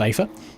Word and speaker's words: Aether: We've then got Dylan on the Aether? Pretty sure that's pronounced Aether.